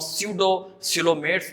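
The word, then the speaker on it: pseudocoelomates: अगर हम बात करें स्यूडोसिलोमेट्स, ये पी साइलेंट है, इसको हम स्यूडोसिलोमेट्स पढ़ेंगे। इनके अंदर जो कैविटी पाई जाती है वो फॉल्स कैविटी है।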